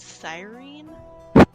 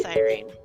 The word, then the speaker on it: Cyrene: And he says that when you say it, your tongue will still move to say the L even if the enunciation isn't with the L. But it's pronounced Cyrene.